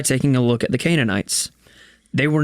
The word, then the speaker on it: Canaanites: Didn't God commit genocide when He commanded the killing of the Canaanites? Did I pronounce that right?